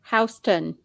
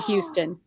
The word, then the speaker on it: Houston: hazes new meteorologists they they also said houston for houston what what where are